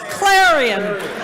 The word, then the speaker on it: Clarion: or if you do if you do pronounce it correctly it's it's claran claran you have to